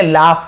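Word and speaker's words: laugh: लाफ, इसे क्या पढ़ेंगे, लाफ पढ़ेंगे, लॉग नहीं पढ़ेंगे, लाफ। फ उच्चारण, लाफ, लाफ यानी हंसना।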